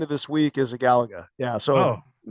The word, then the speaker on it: Galaga: but told me why the correct pronunciation of Galaga emphasizes the second emphasizes the second syllable. Galaga for one simple reason.